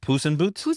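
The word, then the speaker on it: Poezenboot: It's uh it's called and please and please help us pronounce this deenant boot. It's like pusen boot. Pen boot. Yeah. Okay. The pen bolt. The pusenbot.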